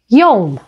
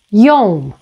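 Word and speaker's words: يوم: Another example is yom, yom, which means day. Again, here, it's pronounced as y, all right?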